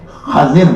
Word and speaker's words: خضر: موجود ہے کہ حضرت خضر نے موسیٰ علیہ السلام کو یہ کہا. یہ خضر جو اصل میں خضر لفظ ہے, خضر, لیکن خضر بھی تلفظ درست ہے, یہ غلط نہیں ہے.